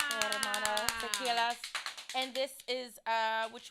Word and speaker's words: Teremana: How do you pronounce it? Terramana? Teremana.